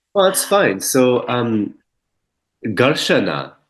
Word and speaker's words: Garshana: So, Garshana. is an ancient practice pronounced gar shun u, and it's Garshanu. essentially dry body brushing with a bristle brush.